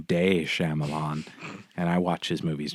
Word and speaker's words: Shyamalan: delivery i always feel like i'm saying his name wrong it's shyamalan right yeah shyamalan yeah i want to say shamalam and ding